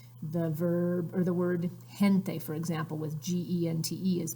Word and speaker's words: gente: verb or the word gente for example was NTE is people and it's pronounced like an H so you want to